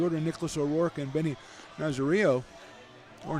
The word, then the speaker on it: Nazario: He'll face Adrian Ruiz, the number 9 hitter, then the top of the order, Nicholas O'Rourke and Benny Nazario. Or Nazario would be the right way to say that.